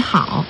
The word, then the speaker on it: 好: The pronunciation of 你 is similar to that of the English word me, and how similar to how. But the tone is totally different.